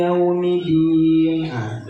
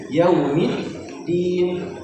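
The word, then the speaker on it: يوم الدين: yaumiddin maiki yaumiddin maiki yaumiddin maiki yaumiddin oke di bagian yaumiddin ada huruf dal bertasdid jadi bukan maiki yaumiddinah jadi huruf tasdid pun kita kita kasih haknya yaumid ada delay yaumidin.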